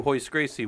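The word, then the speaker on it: Royce Gracie: if you don't know in Brazil they don't do the the the RS or H's so like a Roy is actually like a hoist is how they say it so if you ever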